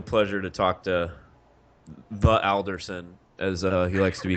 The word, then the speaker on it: Alderson: So pronounce it correctly. Is it Alderson or Alderson?